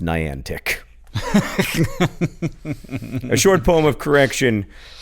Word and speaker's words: Niantic: Trust me, I work at Niantic, which, for the record, since we're making corrections, is pronounced Niantic."